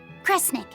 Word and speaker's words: Kresnik: Sound it out. Kre, Snira, Kre, Snick. Kresnik. Kresnik feels right somehow.